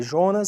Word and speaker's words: Jonas: Apesar do nome dele escrever Jonas, se pronuncia Jonas, tá? Já que é um filósofo mais alemão.